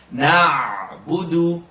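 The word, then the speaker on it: نعبد: Open your mouth and pronounce the ayn. Don't push it. Lift it. Na'budu.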